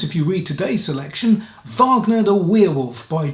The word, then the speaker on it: Wagner: like the composer richard wagner which if you don't know is spelt with a w but the germans pronounce w's as a v sound and i prefer to pronounce it that way than wagner because that puts me